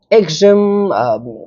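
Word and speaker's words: axiom: Exam it's a noun.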